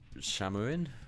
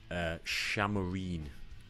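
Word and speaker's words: Šamorín: So it's actually pronounced Shamarine. So I was sort of close. It's the I has got a slight accent above it, not on this screen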